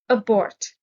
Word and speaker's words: abort: retention maintenance hold abort stress is on the second syllable abort means to give up